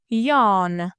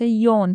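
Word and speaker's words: yawn: اندازه گرفتن اندازه‌گیری کردن یان یان یعنی خمیازه کشیدن این فعل تو انگلیسی امریکن به صورت یان و تو انگلیسی بریتیش به صورت یون تلفظ میشه یان سنور سنور یعنی خور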